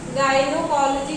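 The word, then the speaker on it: gynaecology: स्त्री रोग विशेषज्ञ को गायनोकोलॉजी कहते हैं। तो यहाँ पे AE रहता है, लेकिन यहाँ पे उच्चारण उसका नहीं होता, वो साइलेंट रहता है।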